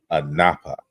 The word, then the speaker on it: Anubis: in the Arman letters anubis's name was vocalized in Egyptian as Anapa so at least by the the New Kingdom Period uh what we're calling Anu or an nubis was actually pronounced a Napa so that that should tell you um in terms of vocalizing uh how the name was pronounced so we have at